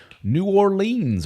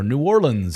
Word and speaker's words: New Orleans: We have live meetups, of which we're having one coming up here in New Orleans or New Orleans, however you want to pronounce it, Louisiana in April of next year.